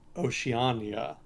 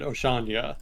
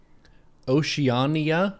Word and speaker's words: Oceania: that much you know i haven't followed um oceania which apparently is how it's pronounced i was pronouncing it oceania last with the last time and people in